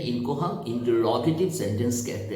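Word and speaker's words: interrogative: अब तीसरा हमारा होता है इंटरोगेटिव सेंटेंस। अब गौर करें, इंट्रोगेटिव सेंटेंस नहीं कहते हैं, इसका प्रोनाउंसिएशन जो होता है वो इंटरोगेटिव।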